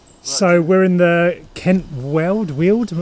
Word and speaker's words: Weald: So we're in the Kent Weald, I'm not sure how you pronounce it. Kent World. Kent Weald. We're in Kent World, yeah. That's how you pronounce it.